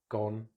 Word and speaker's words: gone: None, done, gone.